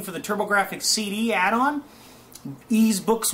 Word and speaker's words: Ys: Or Wise is like people like to say, but it's pronounced, it's actually Ys, the Ys series.